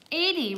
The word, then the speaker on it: Addie: Addie rhymes with caddy. Oh, Addie. It is Addie. A-D-D-I-E is Addie.